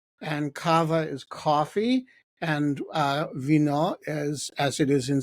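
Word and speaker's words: вино: And Kava is coffee, and Vyno is, as it is in so many languages, wine.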